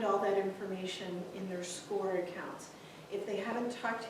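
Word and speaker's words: Scoir: grade and then just a note score it is spelled differently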